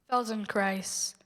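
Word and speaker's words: Feldenkrais: Felden Christ.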